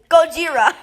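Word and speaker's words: ゴジラ: you destroyable property Gojira Gojira that's all I can do in Japanese it's Godzilla in Japanese Godzilla wasn't originally a Japanese character Gojira gojia Gojira it's pronounced gojirai I think Atomic breath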